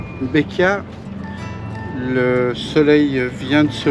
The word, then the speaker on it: Bequia: c'est trop et ben c'est le kiff quel kiff quel kiffe on a eu un véritable coup de cœur pour beia qui se prononce d'ailleurs be c'est une île verdoyante